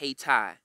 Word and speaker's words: Haiti: place in the world called haiti or pronounced haitai where the africans rule themselves